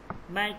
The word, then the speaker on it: मैं: मैं ठीक हूँ, হুঁ এটা হচ্ছে নুনে গুন্না এটাকে, ঠিক আছে। এটা উচ্চারণ হবে না, তবে নাকের মধ্যে হালকা চলে আসবে উচ্চারণটা।